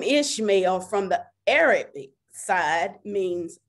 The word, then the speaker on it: Ishmael: to really focus on ishmael today the name ishmael from the arabic side means god hears and listens on the hebrew it says god listens and it is pronounced ish mile so with that being said god can bring